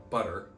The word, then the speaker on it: butter: There's a glottal stop where the T is.